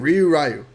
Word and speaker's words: Ryu: Ryu.